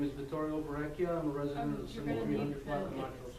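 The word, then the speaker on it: Vittorio: address I'm sorry I apologize my name is Victorio Bia I'm a resent of you're going to need to spell it for me and say it's vtorial v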